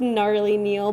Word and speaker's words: Gnarly Neil: No, it's Gnarly Neil, but it's spelled like GN.